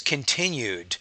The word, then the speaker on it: continued: continued to be practiced notice continued so I have a D sound and then practiced it's more of an S uh a t sound so the Ed ending will change in its pronunciation based on the environment there so continued so we have continue and then we have the D sound here and then practiced it sounds more like a t the Ed because it